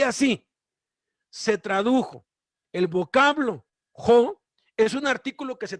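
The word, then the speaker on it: ὁ: Luego vean esta palabra en griego que se pronuncia jo.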